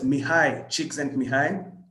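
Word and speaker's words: Mihaly Csikszentmihalyi: And that's what that name is pronounced as Mihai Csikszentmihalyi.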